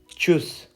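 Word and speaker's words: Tschüss: मतलब यहाँ पे टी है लेकिन इसकी साउंड हल्की सी आती है, जैसे च से ही शुरू हो रहा है चुस, ऐसे।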